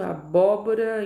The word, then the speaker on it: abóbora: Abóbora, o bó tá na proparoxítona.